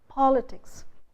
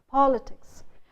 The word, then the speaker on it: politics: So say a word like politics. Where is the stress? The stress is on politics, politics. But when the word becomes polysyllabic, when we add a suffix "cul" to it, then the stress shifts to the syllable just before the suffix.